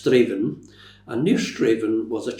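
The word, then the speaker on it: Strathaven: It looks like Strath Aan, but it's pronounced Straven.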